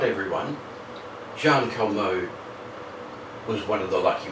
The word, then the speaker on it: Jeanne Calment: I'm going to talk today about Jean KMO. She was French, that's why we pronounce her name that way.